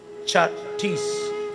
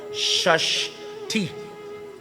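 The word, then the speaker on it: Chhathi: we haven't chucked ease Chuck tease is a mispronunciation of shush teeth shush the puja is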